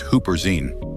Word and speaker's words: Huperzine: focus on one that stands out, which is Huperzine, pronounced Huperzine.